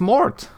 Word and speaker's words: Mort: take that off well Mort like Latin death Mort are you is your name pronounced Mort y eye-opening experience it's Mort okay I I'm gonna sneeze